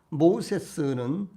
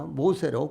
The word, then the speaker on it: 모세: 그러므로 모세의 원래 이름이자 애굽식 발음인 모세스는 물에서 건져냄을 받은 자라는 뜻입니다. 이는 바로의 공주가 아기를 물 나일강에서 건져낸 것을 의미하여 붙여진 이름이었습니다. 그러나 이와 같은 애굽식 이름은 히브리어의 발음을 따라 모세로 고쳐졌는데 그 뜻은 건져내는 자라는 의미인데